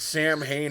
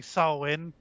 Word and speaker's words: Samhain: that we finally said samhain halloween i guess yes but you both pronounced it incorrectly it's actually salwin whatever don't care yeah